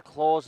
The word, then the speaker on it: Claw: Into the claws of claw, one might say. Yeah, I'm not there sure we if go. it's pronounced claw or clo. Claw, I checked.